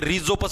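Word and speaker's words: Rhizopus: इसको राइजोपस भी बोलते हैं। रिजोपस भी बोलते हैं।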